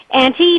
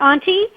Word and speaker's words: Auntie: And the truth is, most Americans pronounce it Auntie, not Auntie. And they're wrong.